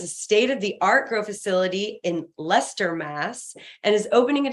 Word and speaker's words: Leicester: tonight thank you Liz I can't believe you pronounced the town of Leicester correctly that's uh quite a fee for someone down to Texas uh thank you I spelled it like the name Lester but that's exactly right yeah no we're we're